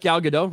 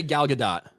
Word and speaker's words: Gal Gadot: Respect Gal Gadot, Ryan.